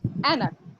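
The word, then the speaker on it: ऐनक: अब इसको हम एनक बोलते हैं या आइनक बोलते हैं? क्या बोलते हैं? क्या बोलते हैं इसको हम? एनक। इसका मतलब ये ए है, ये आई जो आप लोग कहते हैं ना, ए आई, ये आई नहीं है। इसका उच्चारण कैसे होगा? ए, ठीक है। इसको क्या बोला जाएगा? ए। तभी इससे क्या बना? एनक बना। आइनक थोड़ी बोलते हैं।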